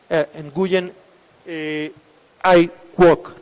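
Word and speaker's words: Nguyễn Ái Quốc: no se hace así se pronuncia nguyen ai quoc no entonces bueno es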